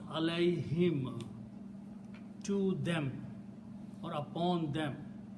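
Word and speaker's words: عليهم: When you write down these together, Allah and whom, okay, it will be pronounced alayhim, to them or upon them.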